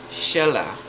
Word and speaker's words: Shelah: Patriarch Shelah, or Sheila, I think it's pronounced, 433.